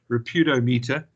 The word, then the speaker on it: Reputationometer: Reputationometer, which is a measurement tool.